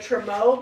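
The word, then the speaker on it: trumeau: It reminds me of the Tremo mirrors. Is that how you pronounce it? Yeah. And I've been wanting to Oh, hey, make a there you are. Tremo mirror.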